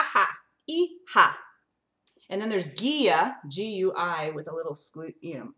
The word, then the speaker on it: guía: And then there's guia, G-U-I, with a little accent mark.